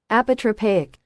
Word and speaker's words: apotropaic: he's not very smart uh here we go apotropaic that's right apotropaic another or other apotropaic which